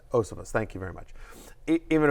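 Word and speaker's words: Iosivas: Higgins has missed, and again, before you even get to, how do I pronounce it? Andre Osivas. Osivas, thank you very much.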